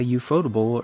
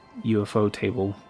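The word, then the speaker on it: ufotable: Plus, uh, Euphotable or UFO table as, um, as I've heard it also been pronounced, um, did a lot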